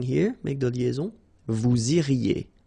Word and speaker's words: iriez: Vous iriez. remember, when you get this EZ at the end, you get the sound E, okay?